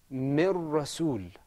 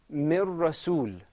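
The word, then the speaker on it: من رسول: This is pronounced with idgham. Mir Rasul. Say it with me. Mir Rasul. Mir Rasul.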